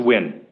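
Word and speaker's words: Nguyen: again and spell it n-g-u-y-e-n and it's pronounced win yes thank you i'm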